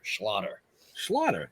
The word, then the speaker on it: Schlatter: I always say it's like it rhymes with otter, so it kind of sounds like a Jewish otter. Schlatter.